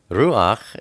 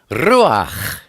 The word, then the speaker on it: Ruach: pronounce pet pet and when you say Ruach it's not Ruach its Roja it can be fun